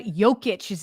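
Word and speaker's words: Jokić: Nice pronunciation on the Jokic, too. There's a lot of people that don't go the silent J, and you nailed it.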